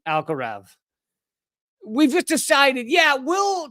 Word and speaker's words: Alcaraz: Almost everybody, including all the announcers, pronounce his name as Alcaraz. He pronounces his name as Alcaraz, right? Because it's the what is it? What's the term for the when Spanish has the th sound?